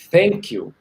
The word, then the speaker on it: thank you: em inglês é americana a pronúncia tá errado é thank you a pronúncia do F né é o t e o h é o que quebra a gente então se você ouve